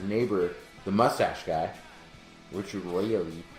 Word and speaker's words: Riehl: After the power goes out, he sees his neighbor, the mustache guy, Richard Rail. I don't know how to pronounce it. It's Riehl.